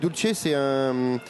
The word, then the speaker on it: Dulce: Alors pareil, Grand Prix de l'innovation CIRA 2013 remporté dans la catégorie produits pour du chocolat, alors qui s'appelle Dulce, je prononce Dulce, bien.